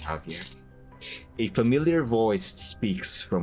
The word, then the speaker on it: Javier: Hello, Havier. Havier. Javier. I think the pro the correct pronunciation is Javier.